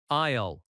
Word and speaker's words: aisle: It sounds like aisle, one syllable. Aisle.